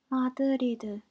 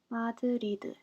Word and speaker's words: 마드리드: 마드리드, 마드리드. Both D was written without any vowel sound, so we have to use I in this case, and also R is replaced with L.